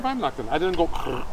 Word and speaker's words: Weihnachten: Frohe Weihnachten.